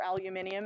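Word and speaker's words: aluminium: the name nothing just aluminum or aluminum if you happen to be from anywhere other than Canada or the US and finally brackets and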